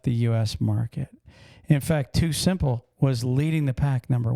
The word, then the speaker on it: TuSimple: Too Simple, which is spelled TUSIMPLE.